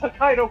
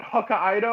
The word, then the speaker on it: Hokkaido: __ ] angry was everyone's pronunciation of hokkaido yeah that was pretty bad one person in that entire movie pronounced hokkaido correctly one person oh this was definitely a good idea everybody else who was what hakaido or something whatever the hokkaido it's not it's not two separate words oh the the godzilla